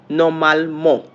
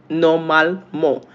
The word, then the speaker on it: normalement: How is it pronounced in French? Normalement. Normalement.